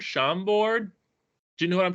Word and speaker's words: Chambord: um specifically specifically uh I think it's pronounced Chambord sham board do you know what